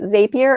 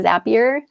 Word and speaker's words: Zapier: called i don't know how to say it zapier or zapier but it's z-a-p-i-e-r i love the software it's